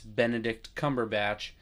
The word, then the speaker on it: Benedict Cumberbatch: And then both of his names have three syllables. It's Benedict Cumberbatch.